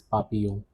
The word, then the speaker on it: papillon: Even though there are double L, the pronunciation is papillon.